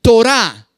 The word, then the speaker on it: Torá: palabra ley anótenlo ahí torá tal cual t o r a con acento en la a la torá la torá